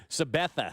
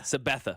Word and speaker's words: Sabetha: Sabetha. Sabetha.